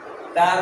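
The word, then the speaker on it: ت: এই হরফটির নামের শুদ্ধ উচ্চারণ করতে হলে জিহ্বার আগা সামনের উপরের দুই দাঁতের গোড়ার সঙ্গে লেগে পাতলা আওয়াজে উচ্চারণ হবে।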